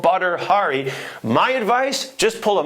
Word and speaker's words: Badr Hari: hell is butter Hari and how do you pronounce that name b a d r well there it is butter Hari the fighter who is known for winning titles